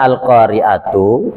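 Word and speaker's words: القارعة: atumal Qori itu asalnya Kenapa bacanya al-qari'atu karena Al Qoriah yang namanya mubtada yaitu Isim yang terletak di awal kata itu namanya mubtada yang namanya mubtada wajib marfu wajib berbaris dhomah jadi Al qoriatumal Qoriah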